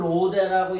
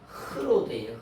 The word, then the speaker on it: 로데: 발음은 어 정확한 발음은 이걸 로드라고 얘기하지만 정확한 발음은 로데 로데 예 로데 이렇게